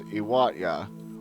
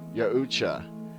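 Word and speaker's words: Yautja: race of beings are known as IAT or it can be pronounced yucha as I have seen both ways agreed upon they live on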